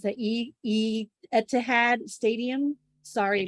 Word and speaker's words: Etihad: already visited the, I don't know how to pronounce that, Etihad Stadium. Sorry, Etihad, Manchester.